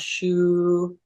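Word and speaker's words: 嘘: this is the first sound, the sound shu, and it's pronounced like sh, like you're shushing someone, and oo as in wood, and then it has an I as in it.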